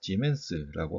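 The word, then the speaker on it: siemens: 단위가 하나 더 있었죠 s라고 쓸 수 있고요 자 이것을 우리가 demence라고 하는 단위로 읽게 됩니다 자 그리고 이제 하나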